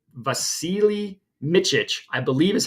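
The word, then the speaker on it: Vasilije Mićić: Vasilije Micic, I believe is how you pronounce it.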